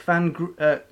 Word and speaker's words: van Grieken: Oh, well, thank you to Rick van Grieken, I guess. With a very good. Soft G. Nice.